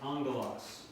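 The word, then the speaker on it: ἄγγελος: When the gamma is doubled, it is pronounced NG as in angelos, as an angel.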